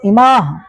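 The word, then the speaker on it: इमाः: जैसे यहाँ पे कहीं पे और लिखा होगा, यहाँ पे इसको पढ़ेंगे इमाह, इमाह। बात समझ आ रही है। तो संस्कृत में कुछ उच्चारण पे भी ध्यान देना होता है।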